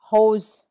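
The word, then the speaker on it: rose: Then we have co meaning big or tall hose which means pink. Hose these are the examples where R is heard very strongly.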